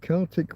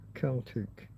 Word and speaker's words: Celtic: Celtic with a hard C or K sound or the soft C or S sound? Which one use depends on whether you're talking about history, culture, or sports team. History, languages, and culture pronounced Celtic. When referring to ancient people's art, musical language like Irish or Welsh, experts and local speakers strongly prefer the hard C-C sports team, Celtic, Boston Celtics, Glasgow Celtic.